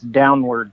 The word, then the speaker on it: Downward: your last name exactly it's downward just like downward spiral oh okay perfect so